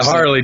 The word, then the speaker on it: Harley: Harley Jackson, right? Yeah, Harley, just like Harley Davidson, the motorcycle.